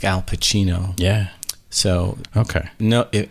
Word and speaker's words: Cirino: but now I want to make sure I'm pronouncing it right you said it was trino exactly Chino like Chino right okay Marino Chino exact perfect